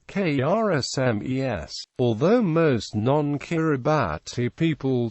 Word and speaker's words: Kiritimati: is pronounced s and the name is thus pronounced K RS smes although most non kirati people still correctly say